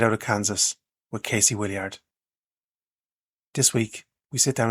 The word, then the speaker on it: Willyard: Casey Willyard, do I have that, your second name, pronounced okay? Yeah. We say Willyard, but Willard, or Willyard.